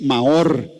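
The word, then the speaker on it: מאור: Y la palabra que utilizan los hebreos es Maor, así se pronuncia.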